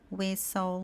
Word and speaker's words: whistle: Então palavras como listen, castle, fasten, whistle. Aqui a gente tá ignorando completamente a presença do T.